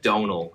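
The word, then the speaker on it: Domhnall: kind of interesting my agents me but it's donal is how I pronounce my name which is like but with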